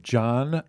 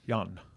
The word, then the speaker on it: Jan: That is from a gentleman, a recording artist by the name of John Magnusson, and he is from Stockholm, Sweden. Is it John or Jan? Jan.